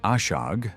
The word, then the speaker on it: ashag: For example, the word ashag meaning field was pronounced asha in isolation.